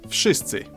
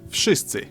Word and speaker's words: wszyscy: Okay, let's have a look at the first word, wszyscy. I've heard people say it. Hold on, let's hear him say that again. Look at the first word, wszyscy.